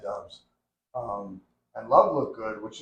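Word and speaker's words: Doubs: So, I mean, that's How do you say that? Dobbs? Dobbs. Dobbs. Yeah. So he looked good. I always think Dubs when I look at it. Dobbs.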